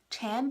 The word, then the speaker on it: Chan: Chan Buddhism, Chan, we spell it as C-H-A-N. It's the same word as Zen, Z-E-N. A lot of people are probably familiar with Zen. Zen is the Japanese way to say Chan.